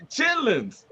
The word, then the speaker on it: chitterlings: She pronounced every T in that mother. Those chitterlings? Yeah, the chitterlings. Chitlins.